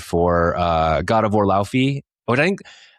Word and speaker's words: Laufey: The Icelandic singer's name is Laufey.